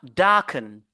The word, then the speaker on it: darken: ch vous voyezch purch on a darken darken darken vous voyez darken donc on se focalise sur la première syllabe sur ces verbes là ok très bien voilà